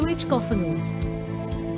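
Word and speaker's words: cacophonous: to play their instruments to correctly pronounce konus accent the second syllable Q kofos it is related to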